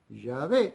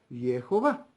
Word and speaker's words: Yahvé: Entonces eso se pronuncia, o eso podemos pronunciarlo Yahvé, aunque otros lo pronuncian Jehová.